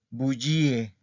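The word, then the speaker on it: bugie: Porque dice la bullía, le bullie, bullie, ¿ok? Entonces aquí sí tiene que sonar la I.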